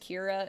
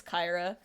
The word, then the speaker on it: Kyra: mispronounced all the time everyone thinks it's pronounced Kira it's Kyra I respond to both